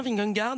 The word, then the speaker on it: Vingegaard: Est-ce que je prononce bien Vingegaard?